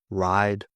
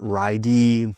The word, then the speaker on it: ride: Ride. Silent E. Okay, not ridey, likey, namey. Hope, name, like, ride. Silent E.